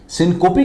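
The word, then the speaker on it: syncope: कई लोग इसको सिंकोप कहते हैं, लेकिन इसका जो करेक्ट प्रोनाउंसिएशन है वो है सिंकोपी।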